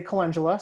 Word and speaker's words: calendula: So I say calendula, some people say calendula. So hey, Emily, how do you say it? Calendula or calendula? It depends on the day and who I'm talking to. I would say calendula is my normal way of saying it.